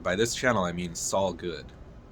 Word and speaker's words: solguud: this channel I mean Sal good that's how I pronounce this s o l guu d Sal good it's going to be